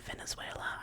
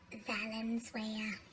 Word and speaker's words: Valenzuela: It's about, if you don't know, Ritchie Valens' real name, Richard Steven Venezuela, I think. Valenzuela. Not Venezuela. Valenzuela.